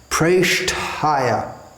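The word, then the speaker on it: preṣṭhāya: When we see an E written, it's pronounced as A, something like hey, may. So it's not Krishna pressed, it's not Krishna Presthaya, pushing Krishna up. Presthaya, Krishna Presthaya.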